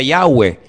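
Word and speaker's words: Yahweh: yod he Bad hei verdad ese nombre se pronuncia yahwe Ese es el nombre que aparece en el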